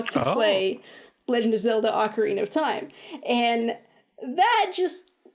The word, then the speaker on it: Ocarina: have always and will always want to say ocarina of time but I have since learned that that is not correct ocarina is the correct pronunciation and whatever but this